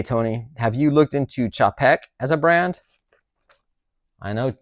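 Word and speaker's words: Czapek: that a lot of people look over it's pronounced chaek thanks for that dude um for those who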